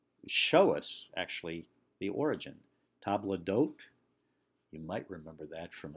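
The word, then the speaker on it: table d'hôte: us actually the origin table d'hote you might remember that from a song in The Sound of Music but it literally means the hosts table and in English we never lost the s and so we print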